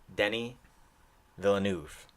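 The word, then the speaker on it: Denis Villeneuve: to finally know how to say his name Denny Villeneuve I was a how do you face it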